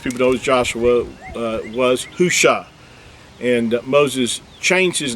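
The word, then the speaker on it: הושע: an accurate transliteration uh the actual word is hushah it's spelled you know it's spelled ha with the letter hey or ha uh and then the shin and the ien it's spelled with four letters and hushah is was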